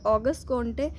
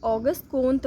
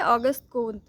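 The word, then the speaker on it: Auguste Comte: तो फ्रांस में इन्हें ऑगस्ट कोंटे नहीं कहते थे, ऑगस्ट कोंत बोलते थे, ठीक है, ठीक है, ऑगस्ट कोंत, यही सही प्रोनाउंसिएशन है।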